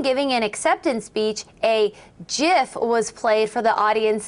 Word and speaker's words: GIF: an acceptance speech, a GIF was played for the audience that read, "It's pronounced GIF, not GIF."